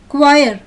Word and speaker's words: choir: In the second picture, the syllables CH are pronounced as k, choir.